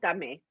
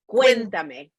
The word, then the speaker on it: Cuéntame: Cuéntame. Cuéntame. Cuéntame. So okay. Like cuentos are stories, and me is me. Cuéntame, story me. Oh, I love it. Think about it that way. Yeah, cuéntame.